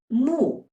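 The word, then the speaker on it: 木: for example the character for mouth and tree pronounced as Co and moo and the second way is to combine the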